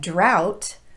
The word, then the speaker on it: drought: more commonly used slu in the words bow and drought we use an ow pronunciation and for cough and